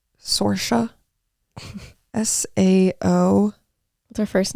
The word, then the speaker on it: Saoirse: it's Saoirse, but it's easier for Americans and English people to say Saoirse or Sasha.